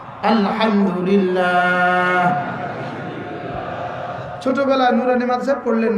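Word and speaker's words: الحمد لله: যেমন ধরেন আলহামদুলিল্লাহ বলেন, মুরব্বীরাও বলেন আলহামদুলিল্লাহ, হাটা উচ্চারণ করেন হা আলহামদুলিল্লাহ।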